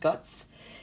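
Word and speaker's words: Götz: when um guts it's guts a lot of people think it's Scots but I think it's pronounced guts in Germany they produced the doll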